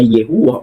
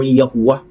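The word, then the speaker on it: יהוה: sa Modern Hebrew is YHWH na sa mga scholar posibleng pinopronounce na Yehuwah or Yahuwah. At yan sa Modern English, yan po ay binibigkas na Yahweh or Jehovah.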